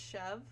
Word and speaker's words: Chevre: best friends sister witches did you know chevres actually pronounced chev oh have i been